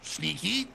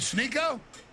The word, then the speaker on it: Sneako: Let's say my name correct. Sniko. Snicklets. Snooper. Snycotic. Is Is it Sneo? Yeah, there you go.